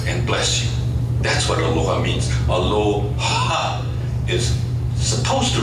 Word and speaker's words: aloha: actually it does because the word in Hawaiian is pronounced Aloha and it's expelling your breath because to the Hawaiians